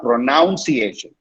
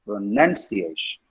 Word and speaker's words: pronunciation: It's not pronunciation, it's pronunciation. Pronunciation.